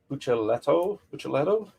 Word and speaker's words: Buccellato: Brian Buccellato. Double C's CH sound, right?